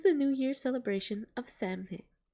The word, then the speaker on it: Samhain: New Year's celebration of Samhain. It's usually pronounced Samhain, but I know that some people pronounce it Samhain, including me.